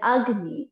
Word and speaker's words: Agni: Again, I'm repeating the pronunciation. These are the Sanskrit words. Vayu. Vayu means air. Apa. Apa means water. Then Agni.